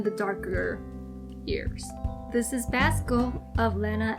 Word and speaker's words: Basco: day so this is basco they always pronounce his name as bosco but it's not bosco it's basco like tabasco sauce or do people say